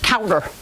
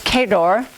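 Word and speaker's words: Cawdor: say it right and some people said cowder well it's kador it's a castle in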